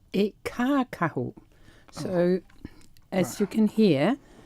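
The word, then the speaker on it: kākahu: this cloak this Maori cloak how do you pronounce that darling well Roger it's it's called it caca who so as you can hear the e is a long one the first one caca who but commonly it's known as Cora why so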